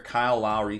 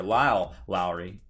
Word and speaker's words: Lyle Lowry: Kyle Lowry came over. I think that's how you say it. Or Lyle Lowry. Forgive me. It's Lyle.